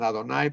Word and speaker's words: Adonai: Aunque ellos la pronuncian Adonai porque es una prohibición rabínica para no pronunciar el nombre, pero aquí lo vemos hasta con las 3 vocales.